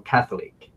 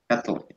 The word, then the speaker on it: Catholic: The stress goes Well, on the first syllable, Catholic. Catholic.